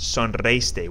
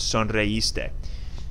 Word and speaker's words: sonreíste: We learned that we need an accent on this I in the last lesson that we did, because otherwise it's pronounced sonreíste.